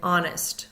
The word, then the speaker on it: honest: K in those words silent h at the beginning of a word honor air and honest we go right to the vowel sound don't hear the H silent P we do